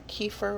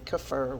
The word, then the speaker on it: kefir: drinking out of my second fermentation for my kefir or kefir whichever way you prefer to pronounce it so i've been drinking out of